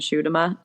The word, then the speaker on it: Schuitema: does it's literally impossible I used to in high school they called me like like sh them